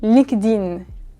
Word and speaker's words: LinkedIn: On ne prononce pas vraiment le linked, on dit juste LinkedIn de manière très rapide, très raccourcie.